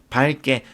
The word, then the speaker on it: 밝게: 밝게. 밝게 역시 형용사죠. 그러면 용언 중에 하나인데 용언의 어간 종성, 어간 발음인 리을 기억일 때 디음절 첫 소리가 기억이 오면 기억이 아니라 리을이 발음되는 거예요. 그래서 밝게라고 발음을 합니다.